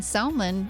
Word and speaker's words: salmon: That's a long time to believe the L in salmon.